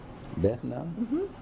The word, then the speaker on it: Behnam: Don't spell it. Just Okay. say it. Behnam. Behnam?